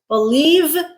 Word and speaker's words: believe: All right, word pair number 5, belief, f, noun, believe, v, voiced, verb.